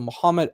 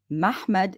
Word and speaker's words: Muhammad: Mhmmed in that pronunciation is not an Arabic word. If it is, I want a dictionary from any time frame. The praised one is Muhammad.